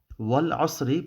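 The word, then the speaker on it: والعصر: first ayah, we got Wal Asri. Okay, again, you would pronounce Wal Asr, but for the sake of Arabic grammar, I'm just going to go through this.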